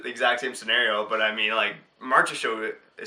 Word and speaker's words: Marchessault: You gotta do the French accent. Yeah, Marchessault. Oh, it's like Jonathan Marchessault.